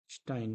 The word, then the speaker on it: Stein: इसकी खोज की थी ऑरेल स्टीन ने। सॉरी, स्पेलिंग फिर से देखना, STEIN। ठीक। ऑरेल स्टाइन बोल सकते हैं।